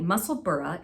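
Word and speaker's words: Musselburgh: says you're absolutely right muscle burra is indeed said burah in Scottish I was schooled on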